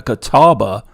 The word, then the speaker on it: Catawba: because i was there is there's actually a catawba ray there's actually a catal catawba and it's spelled exactly the way you spelt it here